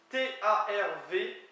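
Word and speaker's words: tarv: T-A-R-V, qui se prononce T-A-R-W, tar, qui vient apparemment de taureau et qui peut être utilisé pour coureur de femmes que tard.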